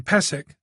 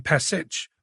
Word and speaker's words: Pesich: other man Lucas pesik she pronounced his name pesk rather than pesich Boyd noted that was